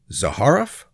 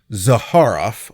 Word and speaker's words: Zaharoff: Is his surname pronounced Zaharaf or Zaharof? Well, you'll hear it both ways. And since he's dead and everyone who knew him is dead, we don't know. But I I'm going to go with Zaharof.